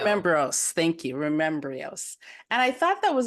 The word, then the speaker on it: Remembryo's: your jewelry comp company called Remos am I pronouncing it correctly Remos Remos thank you Remos and I thought that was a beautiful title